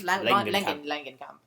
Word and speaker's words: Langenkamp: Langenkamp.